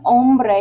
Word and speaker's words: hombre: La mujer, woman, and notice the H in hombre is silent and the J in woman is like an H sound.